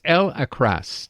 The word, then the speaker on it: El-Akhras: I'm pronouncing that wrong. It's El Akras.